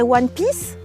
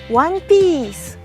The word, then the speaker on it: One Piece: En français, on dirait One Piece, mais il faut bien prononcer. Il y a un wa, piece, One Piece.